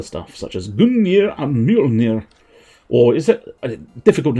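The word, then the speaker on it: Mjölnir: J is pronounced like a Y. I'm assuming at some point I did not do that. Well, I think with Mjolnir I was doing sort of a Y, but I might be wrong.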